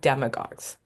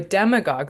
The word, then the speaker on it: demagogue: behind other words and when you see a word ending in agog often ending with a u e so a go is how you pronounce it it just means leader